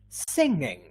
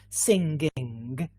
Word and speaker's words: singing: right yes it's a we say singing so notice there is no g at all so we don't say singing at any point yeah we don't actually pronounce this g yeah singing great we're